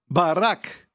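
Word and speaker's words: ברכה: em hebraico para bênção Maraca certo Maraca lembro da direita para esquerda porque o hebraico Bad como ser o contrário ok Beth hash café se pronuncia Barack o nome do presidente Obama certo Seu nome é Barack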